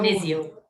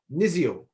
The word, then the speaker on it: Niziol: How do I pronounce it, Michelle? Is it Niziol? Niziol. Niziol.